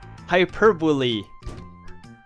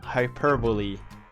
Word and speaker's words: hyperbole: Because it doesn't pronounce at all like it's spelled. Hyperbole! That was the word. Hyperbole.